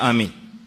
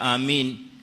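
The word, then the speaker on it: آمين: Inda baadhi الناس, kwa baadhi ya watu wanaitamka amin kwa tashdid almim. Kwa hivyo wanasema badala ya kusema amin wanasema amin, tashdid almim, wa hadha khata, kwa sababu hii inabadilisha maana ya amin.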